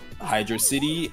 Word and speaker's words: Hydrocity: Also, hashtag Hydrocity gang. It's not Hydro City. Please learn to pronounce it right.